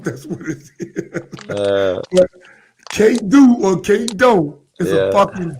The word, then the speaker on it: K-Do: K-Do is a motherfucker, man. I thought it was Kato. I hear you say K-Do all the time.